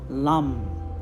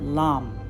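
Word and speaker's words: lam: seed mantra connected to the root chakra is lum but it's spelled l a m but lum so i'm recommending that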